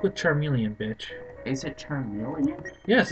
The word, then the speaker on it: Charmeleon: Is it Charmeleon? Yes, it's pronounced Charmeleon.